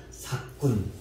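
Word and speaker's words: 삯꾼: 샷군이 아니라 삭군. 쉽게 말하면 삭군인데 시옷 발음을 제가 조금 하려고. 원래 우리 한글은 시옷 발음이 뒤로 넘어가서 이 거센 소리가 됩니다. 그래서 삭군이라고 발음하면 정확하게 발음. 삭군은 목자가 아니다. 우리 갖다 삭군 이렇게 하는 건 잘못된 발음이에요. 그래서 삭군 이렇게 발음하면 됩니다.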